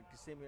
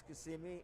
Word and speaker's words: Kissimmee: perspective geographically where is kissimmee and what is the right way to say it too yeah it's kissimmee not kissimmee we're not kissing anyone over there maybe i don't know